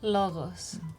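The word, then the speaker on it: λόγος: Logos. Logos. It Hear the beautiful pronunciation words or here.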